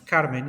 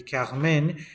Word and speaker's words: Carmen: I also wanted to mention as part of the introduction that, of course, Carmen, that I am pronouncing as Carmen, in fact should be Carmen because it is in French.